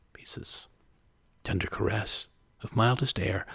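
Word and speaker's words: Poisses: It's titled by the name of the place, Pieces, but it's spelled P-O-I-S-S-E-S, Pieces.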